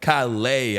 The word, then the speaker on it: Calais: Look, it's hard to pronounce. It's French, you know what I mean? So I know I can get them S's might throw you off a little bit.